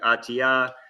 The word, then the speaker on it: ÖTILLÖ: I have no clue. I say it Otillo. There are others who say it how the Swedes say it, which is like Atia.